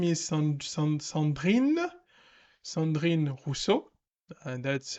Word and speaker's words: Rousseau: make any sense uh but her name is Russo and that's how you pronounce her name and she she's basically has